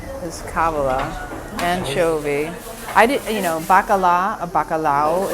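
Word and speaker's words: bacalhau: I did, bacalao is the way they pronounce it here. In Italy, it's bacala. It's codfish.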